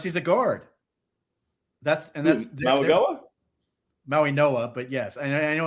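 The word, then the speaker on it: Mauigoa: That's why I'm a Mauagoa guy. I like the Miami kid. That's my poor man's Penny Sewell. Well, unless he's a guard. That's Mauagoa? Maui Noah, but yes, I know how it's spelled, but I know how it's pronounced.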